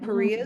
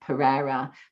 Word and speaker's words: Perea: And Perea is spelled P-E-R-E-A. And I'm sure I pronounce it incorrectly because I call you Pereira, but I like it like that.